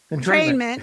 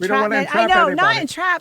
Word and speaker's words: entrainment: Entrainment, not entra.